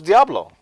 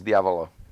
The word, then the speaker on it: Diavolo: I thought it was Diablo. The whole movie I thought. The whole time. No, it's Diavolo, which is Diavolo.